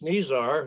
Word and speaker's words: Nizar: last but not least nizar whose name rhymes with superstar for a good reason uh for many good reasons and i'm very grateful to nizar both personally and professionally